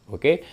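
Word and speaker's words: を: Oke, densha o orimas, keluar turun kereta dan seterusnya minasang. Mudah-mudahan bisa dipahami nih ya partikel wo minasang, tapi dibacanya o sih gitu.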